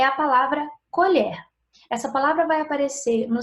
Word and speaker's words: colher: Quando eu digo colher, eu tenho esse som da última sílaba mais aberto. Colher. E agora na segunda, colher. O som é mais fechado.